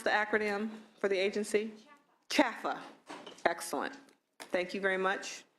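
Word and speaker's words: CHFFA: Liebert, how do you pronounce the acronym for the agency? CHAFA.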